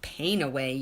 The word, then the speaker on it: Panaway: Now, Young Living has a blend called Panaway. Okay, if you pronounce it Painaway, you can kind of understand how the name came about.